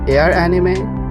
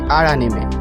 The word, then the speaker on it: Aranime: By the way, some of you might pronounce it as Air Anime, but it's actually Arime like Aran plus anime.